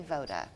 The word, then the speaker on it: Voda: Oh, you did say Voda.